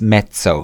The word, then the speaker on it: mezzo: met so forth day it is pronounced met so you don't call it pizza you know call Mazzarella it's pizza and mozzarella it is made so